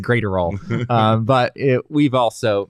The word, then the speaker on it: Graterol: It was Evan Phillips, Alex Vesia, Brusdar Graterol, and Craig Kimbrell, right? Those are the 4 relievers that the Dodgers used in this game. It's Graterol, Bob Brenly. Yes. I think you said Graterol.